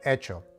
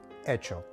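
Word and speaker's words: hecho: letter h echas and echo they both translate into the word made in spanish the letter h is silent therefore you begin your sound in this case with the letter e echas and echo and finally let's look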